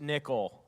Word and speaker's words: Nykl: went hey uh yeah it's pronounced nickel uh can i buy